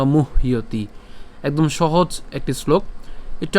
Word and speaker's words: মুহ্যতি: এখানের ক্ষেত্রে মুহ্যতি অর্থাৎ ম রস্যকার হ পর্যন্ত আমরা উচ্চারণ করছি, মুহ। এরপর জফল উচ্চারণ কার মতো হয়? ইয়র মতো হয়, তাহলে মুহ্যতি।